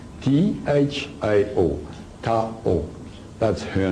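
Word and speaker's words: Thao: Now, to be easier for the lecture, her name is Tao, T-H-A-O, Tao. That's her name. You can pronounce whatever you want, but I pronounce it Tao.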